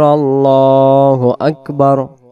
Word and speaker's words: الله أكبر: আল্লাহু আকবার। আল্লাহু আকবার, আল্লাহু আকবার। লা ইলাহা ইল্লাল্লাহ। এখানে প্রথমে আল্লাহু আকবার বলব। এটাকে আল্লাহু আকবার। মানে আল্লাহ মুখটা গোল করব।